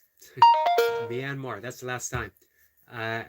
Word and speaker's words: Myanmar: as says hello flow says y tried to pronounce Myanmar myar Myanmar that's the last time I I taught you